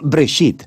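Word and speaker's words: בראשית: escuchado se llama génesis génesis viene de una palabra hebrea se pronuncia break sheet simplemente significa principio hay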